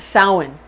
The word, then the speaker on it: Samhain: like it's spelled samhain but it's actually pretty pronounced samhain samhain it's spelled like salmon but we say